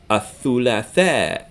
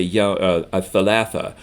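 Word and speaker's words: الثلاثاء: Athulatha is Tuesday. So be careful that they're not pronounced. You can't say athalatha for Tuesday. You have to say athulatha.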